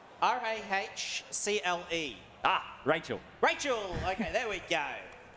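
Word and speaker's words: Rahcle: Right, I have $10 from, I'm going to try and pronounce this. I think it's Racle, R-A-H-C-L-E. Ah, Rachel.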